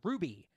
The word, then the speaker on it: RWBY: reward be Ruby Ruby oh wby that doesn't pronounce Ruby it doesn't unless your professor husband he's in the show and he says it does so it's a W so I guess technically could be Ruby there you guys spread